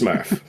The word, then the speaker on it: SMRRF: So SMRRF. Pronounced Smurf.